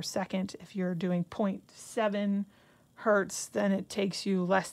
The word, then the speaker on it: hertz: And we usually use what's called a hertz. You would spell that H-E-R-T-Z, like the rental company, and abbreviate it hertz.